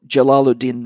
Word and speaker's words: Jalaluddin: more radical than roomie his real name is jalaladin l jalalu el ladin rumi it's hard for me to pronounce it because it's a word i'm not a muslim name i'm not used to pronouncing it's j a l a l u space capital l dash d i n so jalaluddin rooming he's considered the greatest